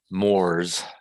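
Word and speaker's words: Moorestown: the pronunciation of that it's actually pronounced as one syllable so it's mores mars the reason that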